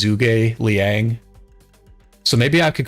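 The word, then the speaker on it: Zhuge Liang: Zug I don't I I want to call him zouge but I know his name is properly pronounced as zugai Liang so maybe I could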